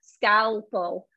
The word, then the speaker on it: scalpel: scalpel all right and we do say the l scale not scalpel it sounds like you're missing it but you're not it is in there scalpel it's funny that you